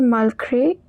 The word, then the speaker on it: malgré: Over here the word malgré, it means despite.